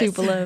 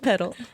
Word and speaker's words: Tupelo: Tupelo, not Pedal.